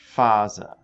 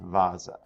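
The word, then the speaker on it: Phase: it does in english looks like i have a mispronunciation there so it should be faza not vasa okay fonton the ps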